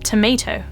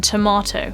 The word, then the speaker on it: tomato: American accent is terrible Americans would say something more like tomato rather than tomato so this a sound